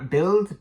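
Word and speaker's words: Bild: and editor for um I believe it's build uh build b l d I think that's how you pronounce it um they basically ran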